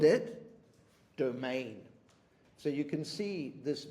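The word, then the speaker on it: demesne: understand in the poem this word here is actually pronounced domain okay and it is a Norman word now those of you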